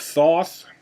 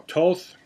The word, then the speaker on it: Thoth: There is another story of the Emerald Tablets of Thoth, or Toth, depending on how you pronounce it.